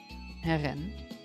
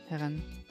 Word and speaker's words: Helen: Okay, so we have Helen, Sam, we're going to pronounce all the names in the Japanese way. Heren. Yeah, Heren.